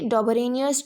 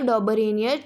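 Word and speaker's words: Döbereiner: अभी देखते हैं आगे, डॉबरेनियस ट्रीड, ठीक है। ये मेरे को पता है ये काफ़ी बच्चे बहुत ही गलत प्रोनाउंस करते हैं, तो इसको पढ़ा जाएगा डॉबरेनियर ट्रायड्स, ठीक है, डॉबरेनियस ट्रायड्स, ठीक है।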